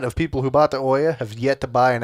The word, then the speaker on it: Ouya: Ouya? It's the "ooh yeah! Ooh yeah!"